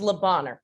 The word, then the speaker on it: Le Bonheur: pronunciation for the hospital you probably did better um french than the rest of us le bonheur we call it lebanon children's hospital in memphis thank you